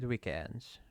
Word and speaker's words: weekend: Weekends. Weekends. Weekends. Yeah. Stress is on the second syllable.